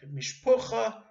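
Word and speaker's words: משפחה: Likewise, family, mishpacha, is not mishpachot, but mishpucha and mishpoches. Stress is different, and of course the Ashkenazic pronunciation is different.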